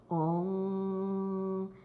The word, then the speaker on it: ओम: और फिर म, जब हम लोग ओम की उच्चारण करते हैं, हम लोग म की उच्चारण नहीं करते, ओम। तो ये क्या है? अनुनासिक।